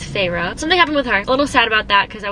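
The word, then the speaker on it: Feyre: that's how you say it's not fair it's Pharaoh something happened with her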